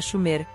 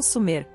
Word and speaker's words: Sumer: e seu território sumério apesar de ter errado na pronúncia era chover não sumir estava correto a suméria não